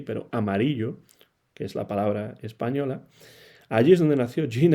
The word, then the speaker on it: Amarillo: en Tennessee incluso pero en Texas también y amarillo como se pronuncia aquí pero amarillo que es la palabra española Allí es donde nació gin estes en 1935